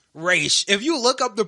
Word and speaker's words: Ra's: z nah it's a s but it's it's pronounced race if you look up the pronunciation is r a apostrophe s race Roz is is Rachel ghoul no no Raw